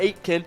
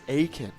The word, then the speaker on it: Aitkin: it is it is spelled a i t k i n uh it's not eight kin it's aiken so uh yeah hey